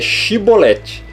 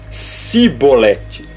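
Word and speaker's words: שיבולת: é isso aqui ó é chibolete o que que eles diziam então ó porém lhe dizia cebolete ele diaborético e esta letra que como nós vimos antes é a letra x no para o hebraico é chan ou seja ela tem som de sh e não de S então eles dizem simbolete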